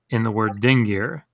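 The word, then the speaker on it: dingir: N in the word ding gear sumerian has a nasalized g letter that it uses so it's it's an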